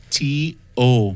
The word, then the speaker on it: Teo: Teo, I hope I'm saying that right. He did a whole slew of things. It's a lot. It's pronounced T-O.